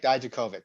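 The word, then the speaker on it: Dijakovic: right we're getting down here how do you pronounce this guy's name uh dominic daijokovic dominic daijokovic he used to be dijk used to be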